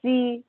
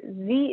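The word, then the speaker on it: ze: these next ones that z is usually pronounced with a long e and uh here and those forms appear are typically pronounced like the english word here h-e-r-e so z here z is a writer and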